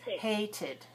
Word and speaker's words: hated: is the last sound don't count the e because it's silent h a t e the e is silent the last sound is so hate and e-d we have two syllables hated hated start last out